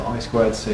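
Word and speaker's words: I²C: Um I2C stands is I IC. So they abbreviate to I squ C, which is actually more syllables, but yeah.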